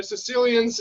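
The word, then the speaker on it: caecilians: called them let's see not Sicilians but Corsicans they're Sicilians and it's spelt CAE and I guess the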